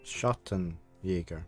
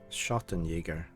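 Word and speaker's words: Schattenjäger: well you should just because I didn't pronounce it properly schotten Yeager what's that I have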